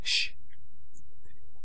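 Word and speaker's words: شين: now to demonstrate this put your hand next to your mouth and pronounce this letter Shh and you can actually feel the air flow in all directions now it's quite interesting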